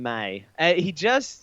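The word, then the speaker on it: Meij: Meege, but pronounced Don May.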